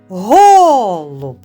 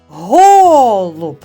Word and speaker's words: голуб: правильно діти а тепер визначимо де стоїть наголос який з двох голосних є наголошеним в слові голуб Послухайте уважно голуб голуб більше чутно звук о перший голосний і є наголошеним над ним ставимо наголос дуже добре любі діти